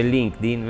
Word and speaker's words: LinkedIn: glielo ripeto soprattutto su linkedin si dice link di vero chi è questo grazie